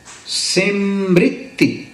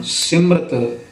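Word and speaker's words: ਸ੍ਰਿਤਿ: मन सरी भी है सृति पावे आम पाठ विच इसका उच्चारण सिमरत प्रचलित है पर य ठीक नहीं सिमरत शब्द विच केवल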